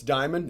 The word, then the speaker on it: Dimond: for you guys chase Diamond is that right did ice did I pronounce it right ready now they're kind of like the rock that all the women you know definitely want on their hand huh but spelled a